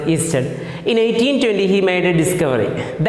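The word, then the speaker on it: Ørsted: one man that is hands christian easter pronounced easter in 1820 he made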